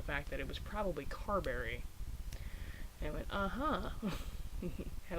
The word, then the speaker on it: Carberry: on this end anyways pronounced at cabery as opposed to Carberry or Cadbury so for years I